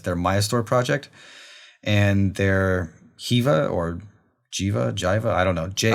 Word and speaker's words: Jiva: Mayastore project and their Jiva or Jiva, I don't know. I pronounce it Jiva, but okay, I like Jiva. Like Jira, Yeah. but there's like a V instead of an R.